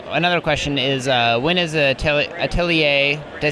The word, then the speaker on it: Atelier: So another question is, when is Atelier?